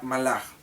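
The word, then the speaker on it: מלאך: La palabra, como ya lo aprendimos en la parashá anterior, la palabra mensajeros en el hebreo se pronuncia malach y el plural es malachim.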